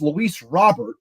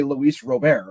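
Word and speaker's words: Luis Robert: same thing with I it's Lis Robert but I always for some reason say Luis Rober because beir Rapport you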